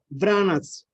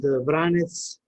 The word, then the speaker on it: Vranec: The name Vranec, as pronounced in Montenegro, Serbia, Bosnia and Herzegovina, Croatia, and Vranec, we said in North Macedonia. There's also in Kosovo, Vranec, I think. That is pronounced this grape variety.